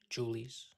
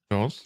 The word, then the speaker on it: Jules: So how you been, Julie's? Julie's, is that how you say it? Jules. No, sweet. It's Jules.